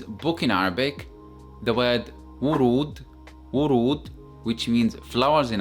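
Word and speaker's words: ورود: That's why it is pronounced as wurud, wurud, with a stretched sound as well.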